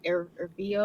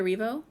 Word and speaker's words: Erivo: I don't know how to pronounce her. Ervio. Oh, Cynthia Erivo.